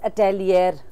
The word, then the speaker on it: atelier: हैं, लेकिन एल और अटेलियर, Okay. ATELIER, that is हाउ you spell that. और थोड़ा सा फ्रेंच वर्ड है तो थोड़ा सा उसका प्रोनाउंसिएशन फर्क है।